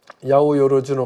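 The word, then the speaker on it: 八百万: 그래서 800만 한자로 800만 신이라고 쓰고 야오 여로주노 감이라고 읽는데 예 모든 것 신이 깃뜨려 있다.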